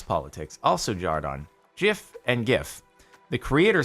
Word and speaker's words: GIF: leaned the opposite direction gif is the exception and it's to be pronounced gif despite the fact that the creator says jif but why jif is